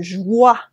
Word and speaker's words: joie: O plus I make the sound wa, wa, as in joie, okay, joie. I plus ye make ye, okay, ye, like the eyes, ye, les yeux, the eyes. And joie plus ye make joyeux,